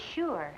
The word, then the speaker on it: sure: us trouble for example we know that the letters S and H together have the same sound in words like shut or show but there are other words that also have the sound of sh in them such as sure and sugar but we don't spell them with an sh only an